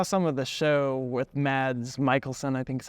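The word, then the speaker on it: Mads Mikkelsen: so I saw some of the show with mads Michaelson I think is how you say it and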